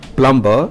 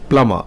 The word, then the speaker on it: plumber: five commonly mispronounced words it's not plumber it is plumber not suit it is sweet it's not let